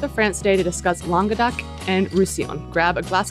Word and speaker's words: Languedoc: And you're like, no, it's Languedoc, like long dick.